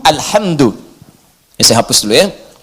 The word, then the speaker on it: alhamdu: Jadi Al Qira'ah As Sab'ah ala dhommi dal, bacaan di Qira'ah Sab'ah semua para pembacanya itu mendhomahkan huruf dal di alhamdu, ya, alhamdu, alhamdu.